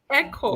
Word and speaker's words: Ekow: the legend i do i believe it's pronounced yes it's called it's echo but i'm very used to it i have i have a lot of friends um in the diaspora and they call me so um i would never fall to you